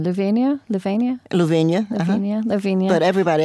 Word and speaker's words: Lavinia: Lavinia.